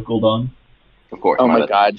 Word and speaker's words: Gul'dan: And then we have Skull of Gudan next turn for a big power play. Thank You mispronounced it. It's Skill of Gul'dan.